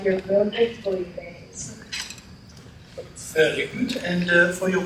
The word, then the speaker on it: bouillabaisse: It's pronounced bouillabaisse, and I think you'll love it.